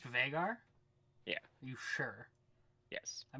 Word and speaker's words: Veigar: it but it is it's pronounced bigger it's pronounced vegar yeah you sure yes i've been saying vigar forever it's ei vagar sounds weird there's a